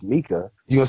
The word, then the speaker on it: Mika: Micah, thank you very much for having me. It's it is Mika. You just have a problem pronouncing people's names. It's Mika, not Micah. It's Mika.